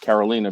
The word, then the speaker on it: Carolina: So and you know, of course, it's spelled Carolina, but pronounced Carolina because it's Latina.